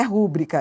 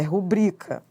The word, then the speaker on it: rubrica: Não é rúbrica, é rubrica paroxítona.